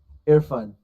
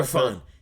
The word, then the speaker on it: Irfan: Irfan. Yeah, that's quite Irfan.